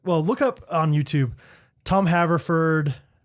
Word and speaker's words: Haverford: Haver, Haver Ford, like Henry.